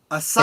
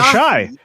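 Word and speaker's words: Asahi: Uh Mark Dailyaly is cracking open a Japanese beer called Asai. Ashai. Ashai. Oh, Ashai. Is that how it's pronounced? Ashai.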